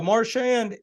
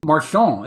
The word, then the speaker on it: Marchand: I think most people know Marchand. Marchand. It should be Andrew Marchand.